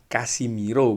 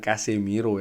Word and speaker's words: Casemiro: Tapi ternyata nama sebenarnya adalah Casimiro, bukan Casemiro ya.